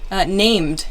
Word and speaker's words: named: Named. Yeah, named is another one. Named would be this this D sound.